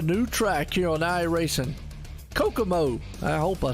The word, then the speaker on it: Kokomo: Oh, Kokomo.